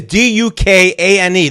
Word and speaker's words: Duquesne: That's not Duquesne is Dukane. This is Duquesne. It's French or something.